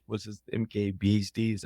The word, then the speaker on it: MKBHD: BD is it Marcus brownley how what's his MKBHD is how you pronounce it yes but yeah he his reviews